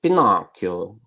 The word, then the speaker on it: Pinocchio: How do you pronounce in English? I guess it's Pinocchio. In Italian we say Pinocchio, which means pine eye, wooden eye.